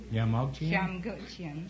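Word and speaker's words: Jamgochian: What kind of a name is Yamogchian? Shamgochian. Shamgochian? Yes. What, It's an Armenian name.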